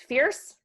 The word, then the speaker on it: Feairs: I like to say it's fierce, be said really quickly.